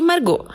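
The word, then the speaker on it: Margaux: A convidada de hoje é Lisiane Busman, idealizadora do Lise Margot. Confiram lá no Facebook a página Lise Margot Tricô e o grupo Lise Margot Tricotando. Margot se escreve M-A-R-G-A-U-X.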